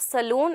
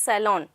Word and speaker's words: salon: groomings and all so that is not saloon it is salon okay so you should